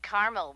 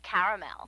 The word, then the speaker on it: caramel: that's what I said Tina actually you said caramel when it's pronounced caramel can't we just call